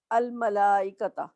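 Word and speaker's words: الملائكة: लाम लगा हुआ है अस सकीना या मैं पढ़ रही हूं अस सकीना अरहमा इसे मैंने पढ़ा अरहमा अल मला इसे मैंने प्रोनाउंस किया अल मलाइका तो क्या फर्क नजर आ रहा है आपको इन दोनों लफ्जों में लाम नहीं पढ़ी और अल मलायका में मैं लाम पढ़ रही हूं जहां मुझे लाम नहीं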